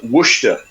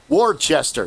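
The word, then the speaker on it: Worcester: It's like uh Wooa in Massachusetts is spelled Warchester. Yeah. If you heard that, you would spell it a certain way. But when you say Warchester, no wor.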